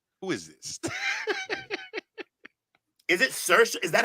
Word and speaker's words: Saoirse: And it's not pronounced any way the way it's spelled. Like, that's outrageous. How's it pronounced? Saoirse. Yeah, Saoirse is what Bree is telling us.